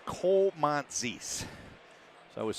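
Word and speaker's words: Koumontzis: He said Komantzis. So I was saying Kumozi. He said Komantzis.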